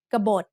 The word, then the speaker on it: กบฏ: Both syllables have middle class initial consonants and both syllables have dead endings, so they are both low tone.